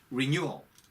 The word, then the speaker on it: renewal: 여러분 R 발음일 때는 혀를 이렇게 말아줘야 되지만 L 발음 끝에 renewal 할 때 L 발음은요. 혀 끝에 혀를 다 붙이는 게 아니고 혀 끝에 힘을 주고 윗니 뿌리 부분에 이렇게 한번 딱 대이는 거죠. 이렇게 renewal.